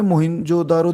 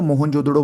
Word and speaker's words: मोहनजोदड़ो: ठीक है, दूसरे नंबर पे मोहिंजोदारो देखो, मोहिंजोदारो बोलो या मोहनजोदड़ो बोलो, कुछ भी जो आप अच्छे से प्रोनाउंस कर सको।